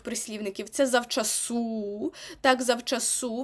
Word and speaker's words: завчасу: це зав су так завчасу матибе наголос на останньому складі завчасу Бо хочеться сказати завчасу